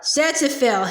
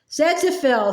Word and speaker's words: xanthophyll: X-A-N, Zan, said Pa. T-H-O, Xantho, P-H-Y.